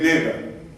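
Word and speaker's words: נגע: La palabra llaga en hebreo se escribe con una letra nun, una letra gimel y una letra a y se lee nega.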